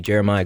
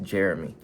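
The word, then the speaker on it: Jerami: is going to be Jeremiah Grant editor Javon here I don't know why I said Jeremiah his name is Jeremy it's literally pronounced like Jeremy I don't know why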